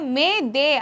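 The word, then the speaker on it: m'aidez: இந்த வார்த்தையை எப்படி ப்ரொனவுன்ஸ் பண்ணணும் அப்படின்னு பார்த்தா பிரெஞ்சு மொழியில் இதை மே தே அப்படின்னு ப்ரொனவுன்ஸ் பண்ணியிருக்காங்க. அப்படின்னா எங்களுக்கு உதவி வேண்டும், எங்களுக்கு உதவுங்கள் அப்படின்னு அர்த்தம்.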